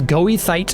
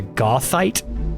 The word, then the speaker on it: goethite: And let me I'm going to try this is goithite is already like ingrained in my brain. Uh, but I believe the proper pronunciation of this is something more akin to Gothite, not Goithite.